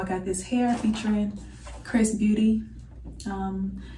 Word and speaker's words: XRS Beauty: got this hair featuring Chris Beauty um it's XRS Beauty but the pronunciation is Chris Beauty um so yeah they